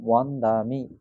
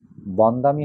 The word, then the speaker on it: বন্দামি: এই যেমন ৩৩টি ব্যঞ্জন বর্ণের মধ্যে ইয়া, রা, লা, ওয়া, বকে ওয়া উচ্চারণ করতে হবে। ইয়া, রা, লা, ওয়া, তাহলে ব থাকলে ও হবে, তাহলে বন্দামিটা ওয়ান্দামি পড়তে হবে আপনাকে।